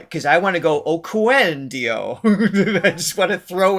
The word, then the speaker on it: Oquendo: It's Oquendo. Oquendo. That's right, because I want to go Oquendo.